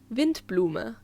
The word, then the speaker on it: Windblume: Next is the Windblume Festival, or in correct German, Windblume. It consists of Wind, meaning, well, wind, just with a softer W, and Blume, meaning flower. So, Windblume means windflower.